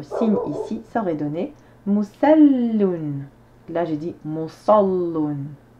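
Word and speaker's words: مُصَلٍّ: On a 3 syllabes, dont une sur laquelle on insiste sur la lettre.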